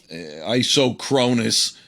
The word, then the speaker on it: isochronous: Yeah, the isynchronous mode, I think the world calls, you pronounce that isynchronous. Isochronous, I would say that if I wanted to sound like a clown, but I think that's also tolerable.